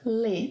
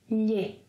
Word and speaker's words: lhe: It's not lhe. Let's work a little on the pronunciation. It's lhe. Well, say the word million, million, okay. Now, don't voice the first part of it. Lhen, lhen, good. Now, say the beginning of the second half only, like lhe, lhe, lhe, lhe.